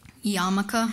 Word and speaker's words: Yarmulke: Yarmulke, am I saying it correctly? You are.